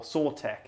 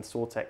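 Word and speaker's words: Sautekh: one of the main Sortek leaders. Yeah, yeah. But it's spelled with like a K, like in it. It's kind of like tech.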